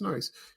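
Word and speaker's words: Noyes: JJ Jeffrey Jr his his real name is Joseph noise I think that or noes or is a noise yeah it's noise it's spelled n o yees it reminds me of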